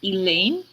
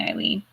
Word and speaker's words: Ilene: at my name and go elaine it's like it's not it's spelled i l e and e it's an i like it could be easier than the e wave spelling eileen you know you think